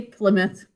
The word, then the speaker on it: Plymouth: But we say Plymouth. Okay, show me markings here. Now, when we pronounce this word, we say Plymouth. So we actually say the first vowel sound, so we're not going